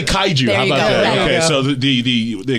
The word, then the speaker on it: kaiju: the seabed they're called could you help me pronounce it kaiju kaiju xantech I Jews and I think that's a